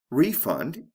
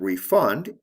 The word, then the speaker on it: refund: they refund your money in this case refund is a noun and refund is a verb see how the function